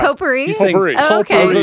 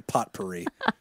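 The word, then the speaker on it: potpourri: p e yes per it's actually pot perie it's actually pot it's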